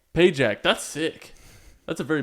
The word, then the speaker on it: Pagac: Pak how do you say your last name payack payack that's sick that's a very military sounding last